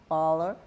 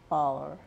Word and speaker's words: Voeller: do it before Christmas and it's major Cornell baller and major Candace baller yes right that's right that's right I pronounce it right you got it okay now